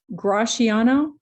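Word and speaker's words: Gratiano: the ti makes a sound so it's actually graciano and actually narissa is without an s right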